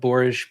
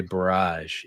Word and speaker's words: borage: Because I would always say barrage, and they're like, "What? What's barrage?"